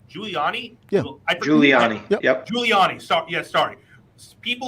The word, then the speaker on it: Giuliani: Giuliani.